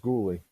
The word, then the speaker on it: Goulet: No, it's pronounced Goulet.